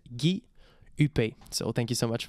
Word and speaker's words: Gui Huppé: My channel name is my actual name and it's pronounced Guy Huppé.